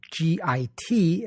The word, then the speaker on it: Git: Using a system called Git, which is spelled G-I-T as in stupid Git, GitHub is a massive online repository of open source code and more.